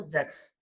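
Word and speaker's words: sechs: German के अंदर जब भी एस के बाद कोई वोवेल आ जाएगा एस के बाद जब भी कोई वोवेल आ जाएगा तो हम उसको जय बोलते हैं। तो इसलिए क्या बोला जाएगा इसको? जैक्स।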